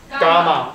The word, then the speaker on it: gamma: 啊，不会念哦，这个念作 G。A M M A Gamma，这念作 Gamma 好不好？